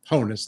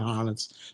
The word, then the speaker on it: Honus: here, which is the Honus Wagner. Honus, not Honus. 1910. It's a candy issue, no diamond. It is the rarest Honus Wagner issue, I think, in existence.